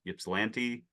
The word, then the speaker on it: Ypsilanti: Ypsilanti, Yep, you got it.